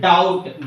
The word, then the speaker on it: doubt: Next, doubt. D-O-U-B-T. Doubt. Here, the letter B is silent.